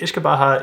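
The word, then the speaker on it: uisce beatha: uh derives from an old gelic term called ish kabaha and ish kabaha is basically Water of Life it derives from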